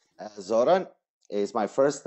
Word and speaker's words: Zoran: tell me the the the the right um pronunciation of your first and last name Zoran is my first name and is the